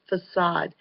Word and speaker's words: facade: thing okay um 15 facade that's how it's pronounced facade and that is um uh well for Halloween